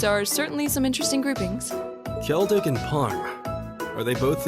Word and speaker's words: Celdic: Elliot che andranno a Seldik. Emma, Machias, Iusis, Fi e Gaius invece andranno a Parma e una volta lì dovranno completare delle missioni. Scusami Duke, ma La pronuncia non è Keldic?